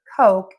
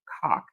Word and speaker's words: Coke: an English class, and she is teaching how to pronounce the word Coke, and she says cock.